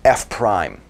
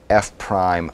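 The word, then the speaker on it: f′: F with this little tick mark here, I'm going to pronounce that prime, f prime of x.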